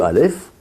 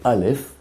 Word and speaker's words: Aleph: Quand on prononce Aleph, c'est vrai que la lettre, elle est plus en haut, mais c'est une lettre gutturale légère, on va dire, Aleph.